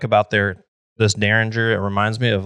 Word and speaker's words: Deringer: so daringer became widespread misspelled with a second R but this is the correct spelling one R really yes I always thought it was with two RS it make it sounds phonetically better daringer oh one R daringer yep but you